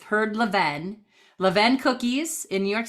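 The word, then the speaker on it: Levain: them okay last one Levin I think that's how you say it she would be able to tell us some say Levine but I've I've heard Levin Levin cookies in New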